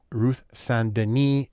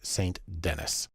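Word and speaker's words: St. Denis: though her name looks like it should be pronounced Ruth sandini she's American so it's Saint Dennis the first thing we want to do is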